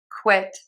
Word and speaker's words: quit: When we see this very common letter combination, QU, we will say the KW sound, quick. I'm sorry, quit, quit, quit.